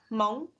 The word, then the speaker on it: Hmong: name mung in its native tongue which is pronounced hmong and learning how to say each other's names